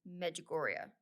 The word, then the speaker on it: Medjugorje: have something in common, and that is magoria. Why do I feel like I'm still saying that wrong? Am I saying it wrong? No, you got it.